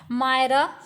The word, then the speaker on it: Myrrha: तो फ्रेंड्स यहाँ पे पूछा गया कि एडोनिस की जो मदर हैं उनका क्या नाम है, मायरा, मायरा, मिरांडा, या फिर नन ऑफ दीज।